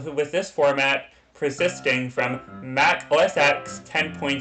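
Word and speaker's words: Mac OS X: Mac OSX. The X in Mac OSX's name represents the Roman numeral for the number 10, and Apple has stated that it should be pronounced 10 in this context.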